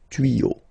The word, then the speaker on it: tuyaux: Same rule, you don't pronounce it. Des tuyaux.